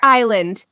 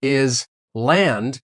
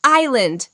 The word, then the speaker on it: island: In the word island, the letters is silent. We don't say it at all. Oh, it's silent. Completely silent. So we don't say is land. We say I land.